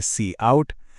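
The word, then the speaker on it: cout: इसका उच्चारण है सी आउट।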